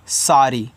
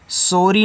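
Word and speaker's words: sorry: यस O double R वाई, इसको पढ़ते हैं सारी, ऐसे सारी, सॉरी नहीं सारी पढ़ना है, और सारी का मतलब होता है माफ़ करना।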